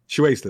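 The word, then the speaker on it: Shueisha: I don't how you pronounce this. Shueisa. Shue Shuesta. Shueista.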